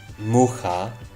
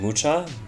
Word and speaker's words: Mucha: So I'm not big into museums, but I did go to the museum for Alphonse Mucha. I think that's how you pronounce his name. Mucha?